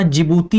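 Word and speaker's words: Djibouti: जिबूती की spelling भले ही बोलने में जे से शुरू होती है लेकिन लिखने में इसको डी से शुरू किया जाता है। तो जिबूती हो गया।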